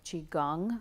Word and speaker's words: Qigong: amazing that besides doing Qigong a chi gong I guess there's a few different pronunciations you are using the